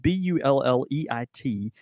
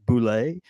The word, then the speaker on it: Bulleit: it kind of goes like that but it's it's spelled bul le IT and there are a few people think there's a a there's a misconception that you might be you're supposed to pronounce it as like boule or something but that's but that's actually boule